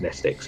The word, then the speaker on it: Mnestics: The M is silent. Oh, so it's nestics, okay.